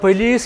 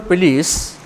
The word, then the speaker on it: police: Army is singular, but police is plural. Plural. Write down. The Indore police are investigating the murder. The Indore police, pronunciation is police, not police. Police is Malayalam, Hindi.